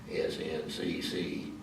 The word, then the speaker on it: SNCC: close connection with SNCC, Student Nonviolent Coordinating Committee, SNCC, pronounced as I did.